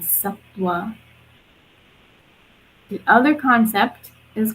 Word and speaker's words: Sattva: One is called Sattva, and I'll spell it for you in case you want to write it down. It's Sattva, and the V is pronounced like a W. So it's called Sattva.